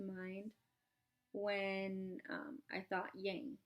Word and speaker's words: yang: So, yang energy. What does it rhyme with? It rhymes with tang, right? That's the first word that came to mind when um I thought yang, right?